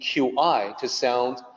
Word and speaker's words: qi: to create a system using QI to depict the sound qi. Fortunately, once you know that it's qi, it's an easy sound for English speakers to make.